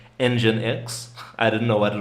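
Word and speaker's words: nginx: It's pronounced engine X.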